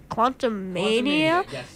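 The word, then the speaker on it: Quantumania: spoiler free review of the new Ant-Man movie Quantum Mania that is how you say it my parents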